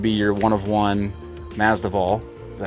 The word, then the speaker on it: Masvidal: The next one would be your one of one Mazdaval. Is that how you say his name? Mazdaval? Masvidal.